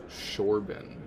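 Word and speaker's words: Chorban: It's Shorban. It's with a sh.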